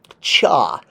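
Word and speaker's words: ṯ: so this is pronounced cha the T with the dash is a CH it's drawn first with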